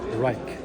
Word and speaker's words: Rike: Rike.